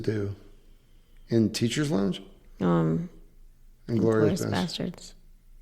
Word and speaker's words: Seydoux: Seydoux.